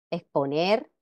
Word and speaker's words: exponer: Pero en España, aunque la pronunciación culta enfática coincide con la americana, la pronunciación más generalizada es. Exponer, esfoliante. Recordemos que la grafía, vamos